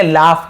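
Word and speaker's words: laugh: ठीक है खाना ठीक लाफ इसे क्या पढ़ेंगे लाफ पढ़ेंगे लॉग नहीं पढ़ेंगे लाफ फ फ उच्चार लाफ लाफ यानी हंसना वीप वीप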